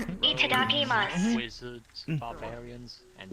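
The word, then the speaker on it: いただきます: Itadakimasu. Wizards, barbarians, and Is it mas or masu? Mas. Yeah, accent. No masu. It's mas.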